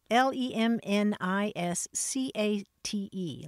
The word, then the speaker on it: lemniscate: can also say that that shape is liset l e m n i s c a t e lemniscate oh you're going to tell me more